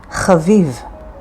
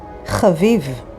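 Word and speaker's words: חביב: Yad is hand or arm, and it's spelled with yod and daled, yad. Here's another word, chaviv. It is an adjective, and it means nice, likable. It is spelled with chet, bet, yud, and bet, chaviv.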